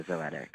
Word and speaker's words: Zoetic: So today we're 2 weeks away from Zoetic. Am I saying it right? It's Zoetic? Yeah, Zoetic. Zoetic. So we're 2 weeks away. Poetic with a Z.